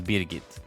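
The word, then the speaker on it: Brigitte: wasn't Swedish First off her name is beit that is how you would pronounce it in Sweden they realized they had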